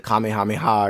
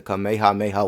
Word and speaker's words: Kamehameha: think that it's the Kamehameha or something and that's just what it's called it's not pronounced that way it's the kameha Mayha wave watch Dragon Ball I'm